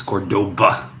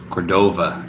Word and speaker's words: Cordova: lapulapu in Cordoba and Cordoba is spelled Cordova but it's Cordoba I was kind of interchanging it with people I'd say Cordova and they look at